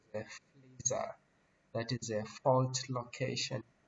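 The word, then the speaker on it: FLISR: It is pronounced as FLISA.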